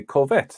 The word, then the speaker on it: Corvette: You see, you use French words, and you pronounce them correctly. Corvette. That's the correct pronunciation.